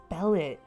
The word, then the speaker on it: Bellette: Okay, Bellet is spelled Bellette. So 1 L, 2 T's. Oh my god. So as he says, her name is Bellet.